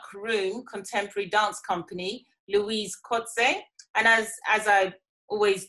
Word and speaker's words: Coetzer: director of dark room contemporary dance company louise kotze and as as i always do i ask